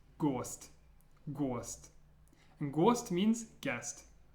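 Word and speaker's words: гость: This one's pronounced gost.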